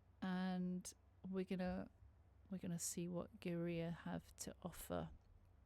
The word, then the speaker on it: Gaerea: we're gonna see what Geria have to offer. I hope I'm pronouncing that right. I've looked at 5 different interviews and they pronounce it like that, so I'm hoping that's correct.